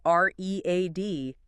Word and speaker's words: read: R E A D. For intense sounds like read, but the past participle spelled the same re e A D sounds like the color red.